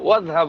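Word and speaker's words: واذهب: যেমন ইজহাব এর পূর্বে যদি আমি ও মানে এবং যোগ করি তাহলে ও ও ইজহাব না হয়ে ওয়াজহাব হবে, আলিফটাকে ওইভাবে ছেড়ে দিতে হবে।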